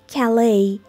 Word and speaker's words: Calais: و دقت کنید که استرس روی بخش دوم این کلمه هست. و تلفظش میشه Calais.